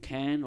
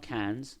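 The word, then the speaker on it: Caen: town within one day town is called can or can not can's but can can can can can that's where the dance is from it's K but I'm pronouncing but it's can but it's not can like a rock yeah yeah yeah all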